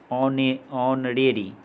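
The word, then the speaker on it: honorary: H silent वाले words देखेंगे यहाँ पे जो दिया हुआ है, ऑनरेरी, यहाँ एच साइलेंट है।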